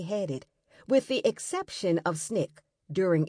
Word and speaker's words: SNCC: SCLC, and the Student Nonviolent Coordinating Committee, SNCC, pronounced SNCC.